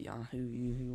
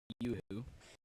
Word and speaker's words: Yoo-hoo: Without the Yahoo, whatever it is. It's pronounced Yoo-hoo.